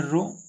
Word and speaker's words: rho: RHO मतलब इसको हम बोलते हैं रो, यार हमारा H साइलेंट है।